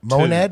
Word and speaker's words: monad: Monad is the name? Yep. Mon. the How do you monad. spell that?